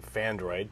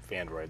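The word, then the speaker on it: Phandroid: Okay, so the first story of the day from Fandroid, P-H-A-N-D-R-O-I-D, Fandroid, that's spelled that way.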